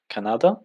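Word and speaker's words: Канада: And here we have the words Canada, Canada, basically the stress is here, Canada, and Mexico.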